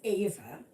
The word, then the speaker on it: Eva: It's just like my name is Ava, but it is spelt EVA, but pronounced Ava. Because in German it's Eva. And so to anglicize it a little bit, it's pronounced Ava.